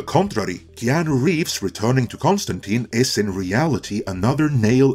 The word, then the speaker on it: Constantine: John Constantine, and yes, that is Constantine, I'm not saying it wrong, first officially appeared on the scene in 1985 in Alan Moore's seminal run on Swamp Thing.